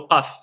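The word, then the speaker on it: قاف: Faites attention à ne pas confondre avec le kaf. Pas confondre avec le kaf. Donc le qaf, on le sent. Qa, qa, qa, eqa, qa, qu, qi, et pas ka, ku, ki.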